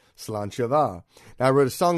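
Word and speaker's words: sláinte mhaith: in lovely gaelic fashion it's spelled nothing like it sounds in English so if you're out drinking be it Guinness or tea raise a glass and repeat the phrase salon shava now I wrote a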